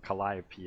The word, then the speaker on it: Calliope: so true, dude, because I used to say Calliope. Apparently that's wrong. No, you're correct, because she herself says it like that in her song, so Calliope is okay.